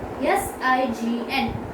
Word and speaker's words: sign: S-I-G-N, sign. We have put this G on sign because the word has N. G then N. So G is silent before N.